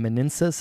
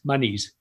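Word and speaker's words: Manises: and specifically in in manensis is that how you say the the town it's outside of valencia how do you say that town my knees yeah manis okay so that's an example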